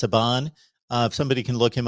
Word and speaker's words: Saban: uh nick um saban um i believe it's pronounced saban uh somebody can look him up in the